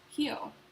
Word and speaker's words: Rio: pronounce words in Brazil so Rio as in Rio de Janeiro is pronounced heel heel de Janeiro the more you know